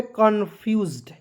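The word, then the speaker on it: confused: उसके बाद देखिए यहाँ पे कन्फ्यूज्ड, CON को पढ़ेंगे कौन, कौन, याद रखिएगा, दो कॉन्सोनेंट के बीच में ओ आएगा, उसका उच्चारण औ के रूप में करेंगे, एक ऊपर जो है चंद्रमा जैसे लगाना है। क्लियर? तो हो जाएगा कॉन, FUSEZ, तो पढ़ेंगे दोस्तों फ्यूज्ड, आधा फ, यू, आधा ज और ड, कन्फ्यूज्ड।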